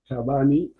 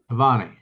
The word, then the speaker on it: Tavani: Uh, Tabani. Did I pronounce that right? It's Tavani. Tavani.